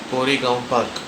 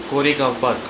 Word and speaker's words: Koregaon Park: Today's video would be about top five railway stations near Cory Park. Cory Park is spent as K O R E G A O N Park. Cora Park.